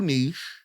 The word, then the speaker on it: niche: two common pronunciations nich rhymes with pitch this is the older